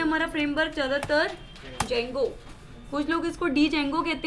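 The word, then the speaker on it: Django: लिए हम यूज करते हैं हमारा फ्रेमवर्क ज्यादातर जैंगो पुष्पों किसको डेंगू कहते हैं बेड़ी उदय लिए साइलेंट होते हैं होता है पर नहीं होता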